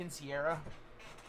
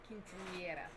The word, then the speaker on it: quinceañera: I get that some cultures celebrate a woman or a girl becoming a woman, like a quinceañera. Quinceañera.